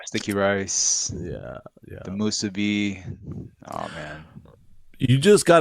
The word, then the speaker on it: musubi: musubi. Oh man. You just got 1,000 points right there. Thank you for saying that because people say musubi. You said it right.